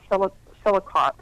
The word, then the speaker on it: Selichot: And in Jewish tradition, they have specific prayers or penitential prayers, which are repentance prayers, that are called, I believe it's pronounced like this, Selichot.